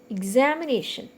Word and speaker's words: examination: Examination. Examination. Okay, nation. It is the second syllable from the end, NA. So we are stressing NA.